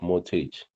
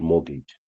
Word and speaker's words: mortgage: Others would call it mortage. There's you know many ways to pronounce this but I'll call it mortgage.